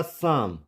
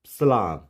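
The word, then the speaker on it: psalm: इस होगा साम, साम, नॉट सलाम, इट्स साइकोटिक।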